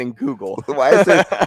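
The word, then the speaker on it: Leinenkugel: Why are there so many syllables? Well, it's Leinen Kugel.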